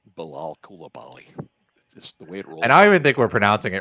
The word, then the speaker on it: Bilal Coulibaly: So you guys I love to hear both of you say Bal Kulabali. Just the way it rolls. And I even think we're pronouncing it right because apparently it's Bal Koulabi.